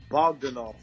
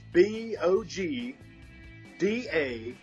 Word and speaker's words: Bogdanoff: Yeah, just go to Google and type in Bogdanoff brothers.